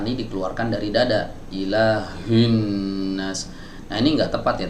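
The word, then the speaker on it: إِلَٰهِ النَّاسِ: Maka huruf lam yang ada di sini digugurkan pelafalannya, tidak dibaca. Ya, tapi dia tetap ditulis. Ilahin nas, bukan ilahil nas, lamnya tidak dibaca.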